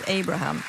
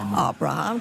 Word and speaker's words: Abraham: Moi, je dis Abraham plutôt qu'en que le prononcer à l'anglais Abraham. Donc les accords d'Abraham, c'est tellement plus joli. Abraham contre Abraham. Je ne veux pas